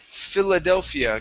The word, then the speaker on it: Philadelphia: last one here is philadelphia give me a short eye at the beginning instead of fila fila it's filler philadelphia great great nice job thank